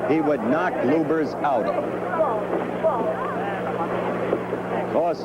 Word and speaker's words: Lubbers: against Rudy LS or lubers it's pronounced both ways luers is probably more technically correct anyway it's the way Rudy wants it said see how